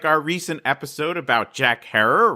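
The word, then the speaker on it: Herer: our recent episode about jack herrer rhymes with terror terror today we are telling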